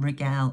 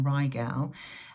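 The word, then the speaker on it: Rigel: a star in the Orion constellation regel or ryel um and for me regel I I'll pronounce it that way I know everyone has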